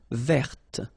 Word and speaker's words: verte: Feminine form, verte. So listen carefully. I don't say te, but it's t.